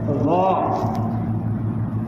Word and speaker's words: ض: ہیں سبحان ربی العظیم، زا سے نکلا تو بھی غلط، جیم سے نکلا تو بھی غلط، ضا سے نکلا تو بھی غلط۔ اس کا صحیح تلفظ ہے ضا، جس کو فن تجوید